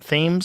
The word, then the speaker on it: Thames: Thames?